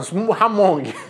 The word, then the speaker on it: Hmong: Realmente, eu não sei pronunciar, mas é H-M, soletrando, O-N-G, soletrando, Luciano. Ó, Hmong. Tem que soletrar corretamente a palavra.